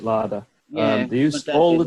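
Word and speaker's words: Lada: In the old cars, and he had 3 laders or laders. Is it pronounced lader or larder? They used to have a lot of ladders in. I pronounce it larder.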